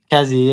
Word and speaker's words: Kazzi: Kazzy, yeah, Kazzy.